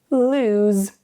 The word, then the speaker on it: lose: The vowel sounds are the same here. However, the endings change. Loose, no vibration. Lose, there's vibration.